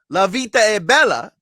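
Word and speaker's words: La vita è bella: Italian things is the movie Life is Beautiful Lavita Abella as it's pronounced or said in Italian mam Mia stamping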